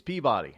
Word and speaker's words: Peabody: No, it's not Peabody. It's Peabody. I know people understand how do you spell Peabody, but they don't know what the hell Peabody is.